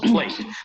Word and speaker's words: played: El pasado de play no se pronuncia played, sino played.